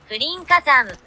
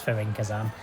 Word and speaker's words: Fürinkazan: say it, and so it's apparently Fürinkazan. But I'm not going to do the accent, obviously. I'm a northerner from England, so yeah, it's Fürinkazan.